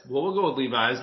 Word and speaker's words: Levis: Will Levis. It's Levis. Well, we'll go with Levis. Like Levis. I'm bilingual, so I apologize. I'm sorry. I just learned this week because I was saying it wrong too.